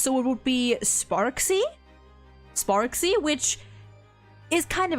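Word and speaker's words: Sparxie: I'm going to assume that the X is pronounced like an X. So, it would be Sparksy.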